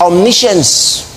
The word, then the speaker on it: omniscience: should say omniscience omniscient the quality the attribute is omniscience that's the pronunciation give me some credit